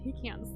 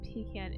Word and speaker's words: pecan: How the majority of the US pronounced pecan incorrectly. And yes, I'm calling you out. Oh, what? Instead of pecan, it's like pecan?